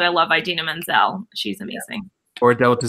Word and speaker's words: Idina Menzel: I said I love idina menzel she's amazing or a delta z m-- which who said that in the award show adele dazeem he's got the name wrong it was a comment